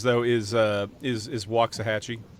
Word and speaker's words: Waxahachie: always want to say this incorrectly is it Waxahachie Jason you know what there's as many pronunciations as there are people uh the most usual pronunciations though is uh is is Waxahachie it's Waxahachie so you weren't yeah you weren't too far